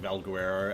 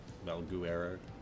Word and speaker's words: Valguero: I feel like a lot of people pronounce it like Valguerero as in like Eddie Guerrero. Val Guerrero. Valuero. That's how.